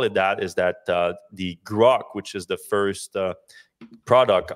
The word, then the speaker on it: Grok: I think that's how you pronounce it, right? Grok.